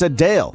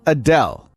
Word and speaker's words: Adele: terribly clear but it's a Dale not Adele a long a on the second vowel not a short e so next time you